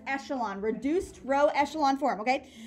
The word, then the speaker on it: echelon: That's pronounced echelon, reduced row echelon form, okay?